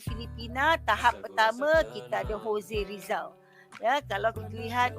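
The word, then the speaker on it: José: dia ada salah sikit, dia J, ya, tapi kita tak pronounce J. Untuk bahasa Spanyol kita sebut Jose saja. J tu tak bunyi.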